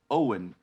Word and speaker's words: Eoin: It's Eoin. It's Celtic. Owen. Eoin. Owen. That's how you write Owen in Celtic.